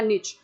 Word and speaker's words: niche: Basically ecological निश या निच, आप कैसे भी इसे प्रोनाउंस कर सकते हैं, ये बेसिकली दिखाता है किसी स्पीशीज का प्रोफेशन।